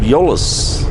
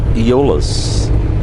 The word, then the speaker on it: Euless: So, you guys have corrected me of the pronunciation of Euless. So it's Euless, not Eolus.